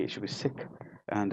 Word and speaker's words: Sikh: correctly it should be sick and if you pronounce it within the English tongue it's Sikh but if you look